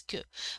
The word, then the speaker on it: que: of the verb m that's why it is ku but for you to